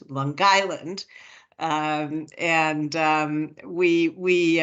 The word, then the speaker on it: Long Island: you have to learn the correct pronunciation for it's Long Island not longed Island Long Island um and um we